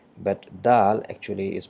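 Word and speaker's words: ذال: So Dal is the English equivalent of Dal is letter D, but D not as in den, but as in the letter the, th in the letter the. So how we pronounce this or that or the in English, it's exactly the same sound of Dal.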